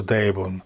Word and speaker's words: Брайбун: В окрестностях города расположены, как мы упоминали выше, главнейшие монастыри Тибета – Сера, Брайбун и Галдан, известные под общим именем Сербрегосум. Самым большим из них является монастырь Брайбун, произносится Дейбун, расположенный в верстах 10 на северо-запад от Лхасы.